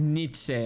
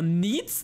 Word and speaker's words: Nietzsche: se dice en pinche francés, que si se pronuncia en inglés, que si... Ajá, es Nietzsche. Ajá, sí. Pero Nitz, nunca había escuchado Nitz.